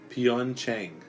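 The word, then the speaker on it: Pyeongchang: dapper net that for the predict the correct pronunciation is pian Cheng Zhong Shan yes the puppets in this section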